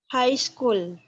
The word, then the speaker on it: high school: kayak gitu High School Jadi huruf g dan hanya tidak dia silence artinya tidak diucapkan So High School High